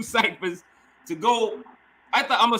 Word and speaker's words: TOGO: And, you know, the 2 ciphers to go. I thought I'm gonna say it's TOGO. It's pronounced TOGO, right?